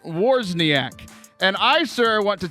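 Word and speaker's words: Wawrzyniak: i a k and he says it's pronounced warsak and I sir want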